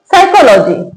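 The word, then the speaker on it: psychology: यहां स्टार्टिंग में पी आ रहा है बट उसके बाद एस आ रहा है। तो यहां पी साइलेंट है। इसको क्या पढ़ेंगे? Receipt covered साइकोलॉजी।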